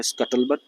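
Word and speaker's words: scuttlebutt: इसका जो प्रोनाउंसिएशन है वो है स्कटल बट और ये एक नाउन है।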